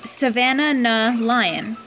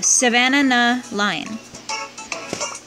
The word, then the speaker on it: Savannahna Lion: difficult to pronounce but it is Savannah na lyin so it's like Savannah but with an extra na at the end for banana so Savannah nuh lion and its skill